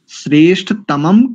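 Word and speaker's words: श्रेष्ठतमम्: श्रेष्ठतम कर्म, श्रेष्ठतमम कर्म, श्रेष्ठतमम ऐसा उच्चारण करेंगे।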